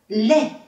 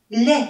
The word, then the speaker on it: lait: u 的音，muette，还有下面 lait， lait，牛奶的意思，t 是不发音的，lait。